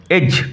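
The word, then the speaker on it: edge: অ্যাট দ্য এজ অফ the plane, এজ কিনারা, উচ্চারণ লক্ষ্য করো, এজ, D will remain silent, D silent থাকবে।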